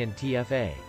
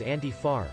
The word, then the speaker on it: Antifa: states most people say in tfa in europe it's sometimes referred to as anti-far which bray believes has been influenced by the italian word anti-fascismo he says in tfa